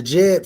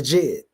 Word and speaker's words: Djed: That's why it's called the Djed, because it rhymes with dead.